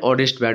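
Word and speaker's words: honest: Fill in the blanks with appropriate article and অনেস্ট ম্যান হবে, ঠিক আছে? যেহেতু তোমরা অনেস্টের উচ্চারণটা অর মতো ভাওয়েলের মতো হচ্ছে এইচের উচ্চারণটা, তাই এখানে অ্যান্ড হবে।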